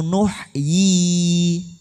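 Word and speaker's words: نُحْيِي: Jadi coba kita baca atau kita lihat wa inna lanahnu nuhyi, bacanya panjang. Nuhyi, meskipun setelah yi tidak ada ya yang gede, tidak ada, tapi itu ada ya kecil menunjukkan dibaca panjang.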